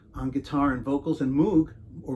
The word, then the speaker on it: Moog: vocals Josh Minaj on guitar and vocals and Moog or Moog if you want to pronounce it right right bass is uh Nicole